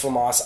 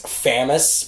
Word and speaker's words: FAMAS: famas f1 and yes it is pronounced famas I don't care if the creative bird says famous which is like it I don't even famous I don't even know where he came up with that but no offense of